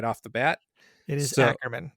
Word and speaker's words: Ackerman: name and you told me, and then I pronounced it wrong immediately right off the bat. It is Ackerman.